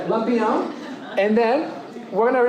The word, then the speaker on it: Lampião: I don't know if you can pronounce that tilde over the A. Lampião. And you gotta say it like you're very rich. Like Lampião.